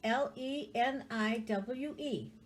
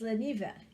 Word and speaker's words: Leniwe: Leniwe pierogi. And it's spelled like this. Leniwe. Leniwe. We have no V in the Polish language. If there's a V in it, then it's usually Czechoslovakian. So it's Leniwe.